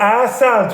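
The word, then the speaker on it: عسل: Asal, 2 syllable.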